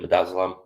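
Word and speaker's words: midazolam: Madazzelam. That's how you pronounce it.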